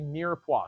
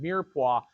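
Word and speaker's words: mirepoix: It's known as a mirua. Does anybody know how to spell that? Well, besides, it's spelled M I R E P O I X. It's pronounced mirua.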